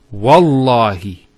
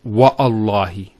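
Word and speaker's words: والله: it, and we say, Wallahi. This waw here is actually known as waw al-qasm, the waw of swearing an oath. So when we put this waw, it's Wallahi, not Wa'allahi.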